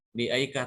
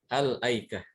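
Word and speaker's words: الأيكة: disuruh membaca dari sini dibacanya bukan di Ika tapi Alki Al aikah Bagaimana cara memulai dari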